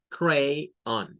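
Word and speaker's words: crayon: crayón existe el vocablo pero en inglés no suena para nada Así es cray sería la primera sílaba y luego on cray on dos sílabas lo tenemos también en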